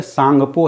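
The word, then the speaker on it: Tsangpo: जैसे सांगपो है, सांगपो में क्या है, टी साइलेंट होता है, सांगपो का टी साइलेंट होता है।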